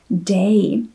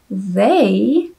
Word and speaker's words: they: Tak to slovíčko, které opět vidíte na obrazovce, jsem hrozně dlouhou dobu vyslovovala jako day. A jak určitě všichni víte, tak day znamená den, zatímco they znamená oni.